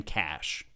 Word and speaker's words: cache: the search settings just type in cash that's spelled c ACH e and in here you